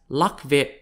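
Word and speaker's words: Lạc Việt: earliest vietnamese people were known in vietnamese as luck vet spelt l-a-c-v-i-e-t or pronounced in chinese as lo spelt l-u-o-y-u-e the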